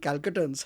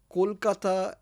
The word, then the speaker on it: Kolkata: I actually call these people out and say you know Kolkata as in you know can you pronounce Cole as in C O A L then you know